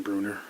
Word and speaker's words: Bruner: Did you tell Jim, did you pronounce it Bruner or Brunner when you talked with him? Jim Bruner. Bruner, okay.